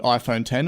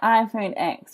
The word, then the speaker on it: iPhone X: x oh my goodness I keep saying iPhone x whenever I see it read and like I go to pronounce it that way but when I wrote some notes for this podcast I actually wrote it out as the number 10 to make I say it right but I have no